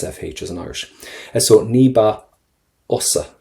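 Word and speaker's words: níos fusa: Now, first things first, níba, and do not pronounce your FH. They're always silent for you in your language. We never pronounce FHs in Irish. So níba osa. Níba osa.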